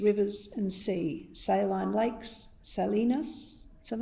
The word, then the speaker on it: salinas: our land, aquifers, rivers and sea, saline lakes, salinas, is that how you pronounce that?